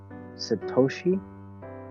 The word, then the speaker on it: Satoshi: that okay so there's bitcoin and there's uh sedoces and my pronounce that correctly several sadoshi's oh my goodness i got some millennial second satoshi yes all right my name is pronouncement okay yeah yeah because it takes x